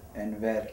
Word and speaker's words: Enver: Actually, it's pronounced Enver, like the R is rolled, but I can't roll my R's so great, but.